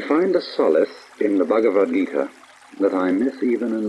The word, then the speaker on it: Bhagavad Gita: of all the spiritual classics of India, the Bhagavad Gita, or Bhagavad the Lord Gita Song, the Song of the Lord. It is spelled B-H-A-G-A-V-A-D, Bhagavad, Gita, G-I-T-A.